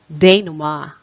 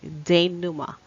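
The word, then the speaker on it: denouement: read this okay it's de noma de noma for the last time it's de noma okay so however it has some variance or less commonly like de numa or de numa my variant sha or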